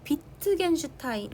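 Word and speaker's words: Wittgenstein: 그래서 이거를 발견한 사람이 여기에 나오는 어 비트겐슈타인 이게 W는 독일어에서 V 발음을 한데 B라고 이렇게 V 그래서 비트겐 슈타인이라는 사람이 비트겐 슈타인이란 철학자래 이분이 이분이이 개념을 어 만들어 낸 거야.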